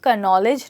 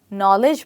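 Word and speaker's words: knowledge: ई डी जी ईई इसकी pronunciation थोड़ी सी confusing है क्योंकि इसका जो फर्स्ट लेटर है के वो साइलेंट लेटर है इसलिए हम इसको क नॉलेज नहीं नॉलेज बोलते हैं और डी भी हमारा साइलेंट होता है मतलब वह बोलने में नहीं आता है तो नॉलेज का मतलब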